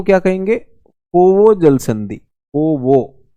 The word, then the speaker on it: Foveaux: पोवो उच्चारण इसका ऐसा होता है, इसकी स्पेलिंग अगर आप देखेंगे FOVEAUX है।